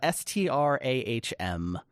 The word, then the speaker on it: Strahm: Yeah, it's not really clear how to pronounce or spell that. It's a Strahm.